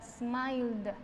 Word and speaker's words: smiled: Smile, que termina en L, la ed va a sonar entonces como una da, smiled, smiled.